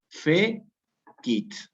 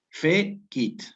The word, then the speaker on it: fecit: Aquí efectivamente, ¿cómo se separan estas en sílabas? Fe-kit. Fe-kit.